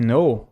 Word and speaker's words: know: E aqui, pessoal, olha, let me know, deixe-me saber. Né? E esse know aqui de saber, quando uma palavra começa com K e N junto, a gente não lê o K.